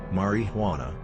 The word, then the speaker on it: marijuana: Marijuana is pronounced like this, marijuana, before cautioning students that it is only a few short steps from a marijuana smoke to the insane asylum.